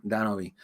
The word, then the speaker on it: Denobi: I'm Denobi too, but my name is actually meant to be pronounced with the Spanish tongue, with the actual Puerto Rican tongue.